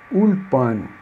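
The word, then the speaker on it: אולפן: Ul, se não fosse muito seria ule. ule, mas aqui é ulpan, escola, né?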